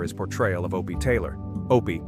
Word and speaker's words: Opie: Opie, my character, rhymes with Dopey.